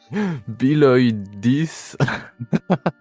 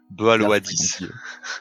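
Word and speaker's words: béaloideas: Ouais, en fait, c'est écrit B-E-A-L-O-I-D-E-A-S. Donc, je pense que c'est Biloidis. Biloidis. Le problème, c'est que des fois, c'est écrit des trucs et en fait, ça se prononce pas du tout comme c'est écrit.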